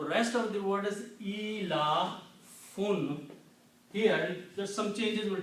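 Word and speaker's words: إيلاف: The pronunciation of these 4 combined will be ilafun. Okay? Alif and alif, these 2 will pronounce E. So I can write down just like that. E. And la fun.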